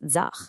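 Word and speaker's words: ձախ: So right is aj, and it's pronounced just like it looks, aj. Simple, right? Left is zach, which is a bit trickier.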